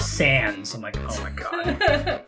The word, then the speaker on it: Sans: genocide I said yeah saans is really hard like it's pronounced sans I'm not gonna argue with you kid it's from the font name and the word song means without so you can pronounce